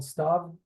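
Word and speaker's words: סתיו: male it's unisex um it's weird phonetically because it has the ud here in the middle I'm moving my cursor around it this UD is silent which is why it makes it star and why it's irregular I it's so small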